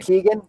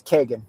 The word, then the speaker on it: Kegan: time Kagan uh so most people pronounce the name Keegan but the traditional Irish pronunciation of the name is Kagan so okay no it's